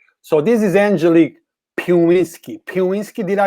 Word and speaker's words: Piwiski: Piwiski, did I say it right, Angelique?